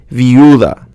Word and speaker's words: viuda: If you have the I or a U combined with A, E, or O, it's pronounced as one syllable unless there is an accent mark over one of the vowels.